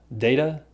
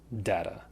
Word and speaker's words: data: This one's simple. Data, data. And I would guess they're both used about the same frequency.